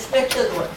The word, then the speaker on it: espectador: Dizemos espectador. E já vimos os jornais esportivos escreverem um espectador que não pronunciavam o C.